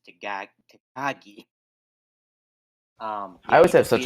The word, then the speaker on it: Takagi: So yeah, Shingo Takagi. That's how you pronounce it. Takagi. I always say it's Takagi, but it's Takagi.